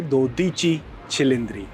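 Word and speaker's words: Dodici Cilindri: अगर आप 12 सिलडर्स इटालियन में बोलेंगे तो उसको आप प्रोनाउंस करेंगे दोची छिलिंद्री।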